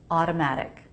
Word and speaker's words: automatic: Both T's are flap T's. Automatic. I'll do it with two true T's. Automatic. Wow, automatic. Flap T's really help to smooth out and make an American sound.